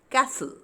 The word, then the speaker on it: castle: Next is words with T silent. Whistle, nasal, castle.